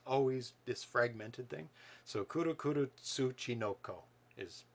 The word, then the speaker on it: Kuru Kuru Tsuchinoko: And the first one up is Kuru Kuru Tsuchinoko. It is a puzzle game. Kuru Kuru Tsuchinoko. Yep. I'm pretty sure that's how you pronounce it.